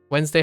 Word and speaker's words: Wednesday: h no no no how many syllables does Wednesday have Wednesday has two syllables that's what it says and guess what one of the most one of the common questions is does Wednesday have two or three syllables uh yes yeah all